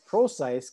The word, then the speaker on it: Procise: And then the last name is Procise, kind of like Precise, but with an O. Procise.